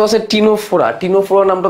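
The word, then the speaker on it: Ctenophora: আর দ্বিঅরীয় প্রতিসমের নামগুলোর মধ্যে সি আছে, টিনোফোরা যাচ্ছে টিনোফোরা নামের মধ্যেও কিন্তু সি আছে, ঠিক আছে? এই সামনে একটা সাইলেন্ট একটা সি থাকে, ঠিক আছে? সামনে কি থাকে? একটা সামনে একটা সাইলেন্ট সি থাকে, ঠিক আছে?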